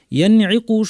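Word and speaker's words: ينعق: এখানে ইয়ানঈকু শব্দে নুন সাকিন পরে আইন এসেছে, এটাকে ইজহার বা স্পষ্ট করে পড়তে হবে, অর্থাৎ নুনের গুন্নাটা স্বাভাবিক গুন্না রেখে স্পষ্ট করে আমাদেরকে উচ্চারণ করতে হবে, ইয়ানঈকু ইয়ানঈকু।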